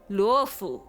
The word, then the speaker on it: Luofu: the characters pronounce it that I'm like, that's not right, because it's luo, right? Like luofu.